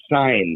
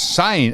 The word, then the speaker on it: Seine: If you look it up in the dictionary, it tells you how to pronounce it. S-A-Y-N.